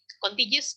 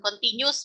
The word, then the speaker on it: contiguous: Oke, jadi seperti yang sudah kita bahas ya, dalam 3 teori yang sebelumnya, bahwa continuous conditioning dibacanya ya, bukan continuous, bukan.